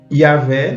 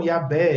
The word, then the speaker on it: Yahweh: Yahvé não está em nenhum manuscrito.